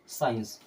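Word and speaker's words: science: कि खत्म हो गया बहुत कॉमन सा वर्ड आपने सुना होगा साइंस क्या सुने हैं साइंस लेकिन एस के बाद में क्या होता है सी होता है अब एस के बाद सी आया तो उसको पढ़ना नहीं है सी हो जाएगा साइलेंट और इसे हम क्या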